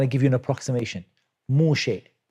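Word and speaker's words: משה: Moshe. Moshe. Maybe it's slightly different. Like approximately, it's pronounced Moshe. With a sheen and with imala on the end.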